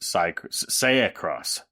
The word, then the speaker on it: Seicross: But I would pronounce it Seicross. Seicross. Ooh, okay. Seicross. Yeah. Spelled like acai.